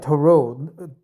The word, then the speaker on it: Tarot: thought too right right Toro T is silent man Toro the Toro is for